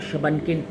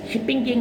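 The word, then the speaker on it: Shubunkin: बाकी कॉमेट और शबनकिन, शिपिंग किंग नहीं, शबनकिन जो इसका एक्चुअल प्रोनाउंसिएशन है, ये भी मौजूद हैं।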